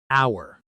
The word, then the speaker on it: hour: Hour. This word has a silent h. We say hour exactly like the word for belonging to us.